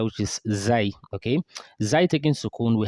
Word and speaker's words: ز: Zai is actually pronounced as Zai, or you can pronounce it as Za. You can say Za, or you can say Zai. So the pronunciation Zain is actually not correct. Okay, Zain. It's not like Zain.